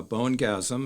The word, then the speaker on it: Bonegasm: relates to the name of your band uh bone gasm and I hope I pronounced that correctly yes okay um could you